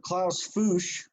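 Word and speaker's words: Klaus Fuchs: uh exposed to now Klaus foosh that's how you pronounce his name uh is he was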